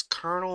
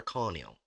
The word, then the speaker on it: colonel: Is this colonel or colonial? That's That's Colonel.